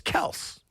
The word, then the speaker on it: Kelce: not for nothing, but my brother's last name is Kels.